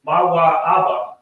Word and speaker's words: Moab: Mawa Abba is the pronunciation of Moab in the Lashon Kodash. Because again, we're not using any vowels, it is Mawa Abba. And in ancient Hebrew, Ah is actually not a vowel.